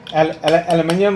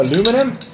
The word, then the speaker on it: aluminium: some giveaways absolutely so this is a lovely aluminium or aluminum as the Americans say water bottle fantastic for